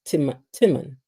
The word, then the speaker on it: Timon: His name is pronounced Timon. Timon. Let me look at this another way. Common Timon. So it's like common Timon. Cinnamon, Timon.